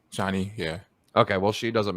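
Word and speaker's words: Chani: I believe it's pronounced Johnny. Johnny, yeah.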